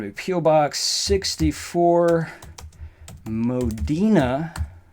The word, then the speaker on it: Modena: Box 64, Modena is the correct way to say that, New York, 12548.